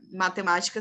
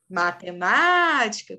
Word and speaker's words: matemática: palavra na língua portuguesa matemática perfeito Nicolas é proparoxítona gente não é a última não é a penúltima é a anti penúltima sílaba é proparoxítona E aí a gente